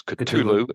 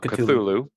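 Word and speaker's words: Ktulu: next song on the list is all of culu by Metallica which is interesting that's the actual pronunciation is culu and not cthulu uh it's the eighth and final track for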